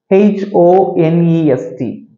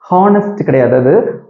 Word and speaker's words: honest: one more example he is an honest person h o n e s t honest honest person honest he's an honest person got